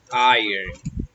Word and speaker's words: iron: tenemos una plancha que se se pronuncia ayer ayer en plancha a y